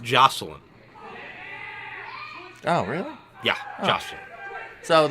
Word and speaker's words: Joseline: what she's gonna teach Jose lien who Jose lien I saw it on the poster yeah it's pronounced joseline oh really yeah nothing